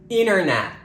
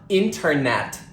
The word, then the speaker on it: internet: pronounce t at all when T is followed by an N it is usually dropped we do not pronounce it for example Center not Center interview not interview and internet not internet I'm in a bit